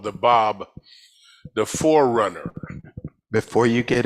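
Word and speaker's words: Báb: spelled b a b looks like bab pronounced Bob and u i i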